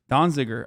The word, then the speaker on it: Donziger: 45 days in prison as well um completely donziger i'm saying it right okay everybody shut up